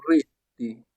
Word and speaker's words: rete: Pensez au mot été, été en français pour mieux le prononcer lorsqu'il est fermé. Et, par exemple, on a le mot rete, rete, rete, italien, réseau, réseau.